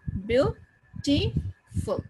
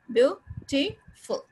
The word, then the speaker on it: beautiful: ये dotted beautiful. There are three syllables. Beautiful. So किस पे स्ट्रेस है? The first. Beautiful.